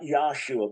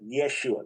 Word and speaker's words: Yeshua: Not Yesua, but Yeshua. That's first thing.